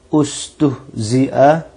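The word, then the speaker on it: اُسْتُهْزِئَ: Dan sungguh ustuhzia telah diperolok-olokkan. Kalau diputus itu bacanya pakai U ya. Lihat ee mengacu kepada huruf yang ketiga. Bukan I, bukan A, tapi pakai U. Ustuhzia.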